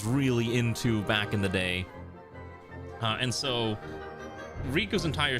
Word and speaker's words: Diz: this mummy dude called Dixs or D. I'm sorry D. His name is D, not Dix, but it's spelled weird. It's like uppercase lowercase capital like that. So you got Diz, who looks like a